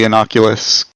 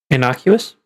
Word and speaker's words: innocuous: seem to be completely inocula questions yes I pronounced that wrong innocuous I think that's what